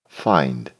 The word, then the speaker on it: find: Ici, il y avait bien sûr un piège, puisque en tant que locuteur du français, nous avons été conditionnés à prononcer la graphie IN 1. Ce qui ne se fait bien sûr pas en anglais.